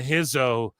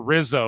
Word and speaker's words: Rizzo: Stax Lorenzo and um Adriana Hizo or Rizzo rather I say Hizo because Brazilian